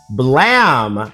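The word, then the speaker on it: Blame!: And it goes by the name of Blam. It's spelled blame, but it's supposed to be pronounced blam.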